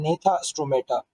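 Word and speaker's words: Gnathostomata: उसे कहा जाता है नेता स्टोमाटा इसमें जो बेटा जी है ना ये दोनों के अंदर साइलेंट है अच्छा अगर हम इसको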